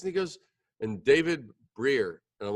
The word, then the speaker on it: Brier: His name is David Brier. I pronounced that correctly, right?